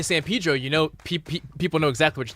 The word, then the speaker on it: San Pedro: Los Feliz, Los Feliz, San Pedro. It's Pedro. So. Oh, San Pedro. Yes, but the Spanish way, because I think it was named after St. Peter.